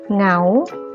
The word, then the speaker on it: เหงา: หงาย หงอย เหงา เงา นัก เรียน จะ สังเกต ว่า เวลา แกะ ออก เสียง นะ คะ มัน จะ ออก เสียง เป็น ตัว งู นะ คะ ออก เสียง เป็น พยัญชนะ ตัว ที่ 2 ค่ะ ไม่ ออก เสียง ตัว หน้า นะ คะ ต่อ มา นะ